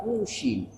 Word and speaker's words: Kushini: Fakuli, maka aku berkata aku berkata padaku Al-Kushini, Imam Kushini, bidomil kaf, dibacanya pakai kafnya didomahkan, Kushini, bukan kasu, kau bukan.